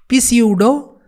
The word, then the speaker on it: pseudo: pneumonia, it is pneumonia I know P is silent here, so why did you